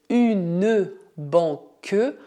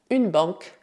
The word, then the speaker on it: banque: Não dizemos une banque, mas une banque, une banque, une banque.